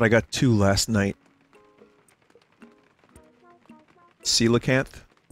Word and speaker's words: Coelacanth: Coelacanth?